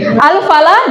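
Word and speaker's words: الفلاح: Yang membedakan satu bertasydid, satu tidak bertasydid. Bila bertasydid, maka dia bacanya adalah alfallah, artinya adalah petani. Bila tidak bertasydid, maka bacaannya adalah al-falah.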